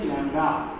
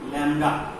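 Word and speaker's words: lambda: এটা আমরা ল্যামডা অক্ষর দিয়ে লিখি, উচ্চারণ হচ্ছে ল্যামডা, উচ্চারণটা কি ল্যামডা।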